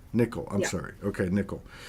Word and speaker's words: Nicoll: Is it Nicole? Is that how you pronounce it? Nickel. Nickel. Nicoll.